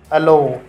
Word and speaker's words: allow: अलो, अलो, इसमें ALLOW, अलो, इसमें ओ क्या हो रहा है?